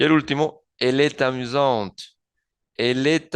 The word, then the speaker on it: amusant: Si esta frase fuese masculina, se pronunciaría il est amusant. Il est amusant sin la pronunciación de la T, porque se escribiría sin E, y traduciría él es divertido.